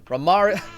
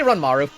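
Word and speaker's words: Rantaro: one to the head ramar did i say run maru thank you for the canadian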